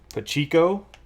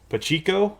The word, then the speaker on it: Pacheco: dodgers and nate ball pachiko well they mispronounced his name about a bunch but pacheco okay i get it right from now on pacico got it oh